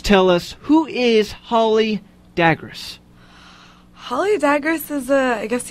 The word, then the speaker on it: Dagres: Dagres, yeah.